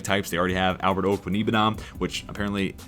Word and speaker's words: Okwuegbunam: They already have Albert Okwuegbunam, which apparently Okwuegbunam is the proper way of pronouncing that, so I do apologize for mispronouncing that for so long.